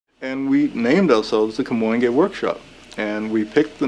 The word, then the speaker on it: Kamoinge: And we named ourselves the Kamoinge Workshop.